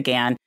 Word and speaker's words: Ghan: up and down and everyone in Australia pronounces it the Gan but um it's technically a shortened version of the Afghan Express was the original name so Gan is is how you're supposed to it but I will